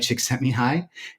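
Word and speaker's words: Csikszentmihalyi: a hungarian born psychologist with a hard to pronounce name uh mihai chick sent me high and uh he wrote this book about flow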